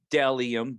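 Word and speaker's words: Bdelliom: seven nine my next sponsor is dellium it's pronounced dellium b-d-e-l-l-i-o-m um dellium is men's and women's minimalistic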